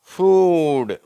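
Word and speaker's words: food: Cool, pool, ஃபூட். சரியா? நம்ம உணவுன்ற வார்த்தையை அநேகர் தப்பாக தான் உச்சரிக்கிறாங்க. ஃபுட்டுன்றாங்க, ஃபாஸ்ட் ஃபுட்டுன்றாங்க. அதை ஃபூடுன்னு சொல்லணும், ஃபாஸ்ட்டு ஃபூடு அப்படின்னு சொல்லணும். ஃபூடு.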